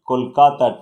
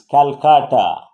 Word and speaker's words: Kolkata: have converted to tagore the way they converted kolkata to so it is originally kolkata now it is calcutta now again coming back to kolkata so that